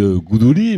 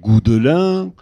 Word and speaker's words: Goudouli: Oui, alors en effet, on dit Goudouli, mais on pourrait aussi dire Goudelin.